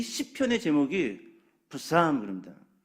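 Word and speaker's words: Psalms: 그래서 영어 성경을 보면은요, 우리가 알고 있는 이 시편의 제목이 부삼 그럽니다. 푸 발음을 아주 여리게 해야 돼요. 부삼, 삼.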